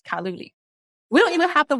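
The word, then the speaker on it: 卡路里: And example, in Chinese, we pronounce calorie as kaluli.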